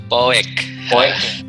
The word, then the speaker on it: Poek: Bacanya apa sih Kak? Poek. Poek.